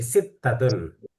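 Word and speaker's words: ستة: Tadi sittatun.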